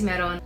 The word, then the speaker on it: Meron: say it straight away hi my name is maron my name is spelled m-e-r-o-n and some kids were really mean